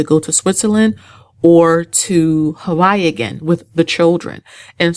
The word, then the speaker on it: Hawaii: That's how the locals say it there, Hawaii. I was saying Hawaii, but that's how they say it.